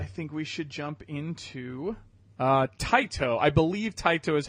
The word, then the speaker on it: Taito: further ado I think we should jump into tight oh I believe tight Oh is how you pronounce it the point we will talk about